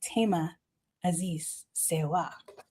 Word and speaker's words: Thema Azize Serwa: The wonderful, amazing TMA Aziz Siwa. You better go ahead and say my name like that. I love that. Ta Aziz Siwa.